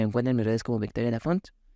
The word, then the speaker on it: Laphond: mis redes como Victoria la font l a p h o n d pero recuerden la d no se pronuncia no se pronuncia muy